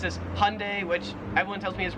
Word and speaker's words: Hyundai: So in America, we pronounce this Hyundai, which everyone tells me is wrong. It probably is. So we pronounce this as Hyundai.